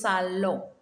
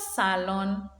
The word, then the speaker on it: salon: or the living room lo salo and it's not salon lo sallo the second